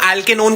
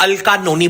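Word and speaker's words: alkanone: कल तू एल्केनोन को वाइवा में अल्कानोनी बोल रहा था।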